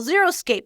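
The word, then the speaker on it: xeriscape: what they call zeroscape no it's not zero meaning there's nothing on the yard and there's zero stuff it's zero x eer i so zeroscape I don't know if that's the right way to say it but it is zeroscape and it is too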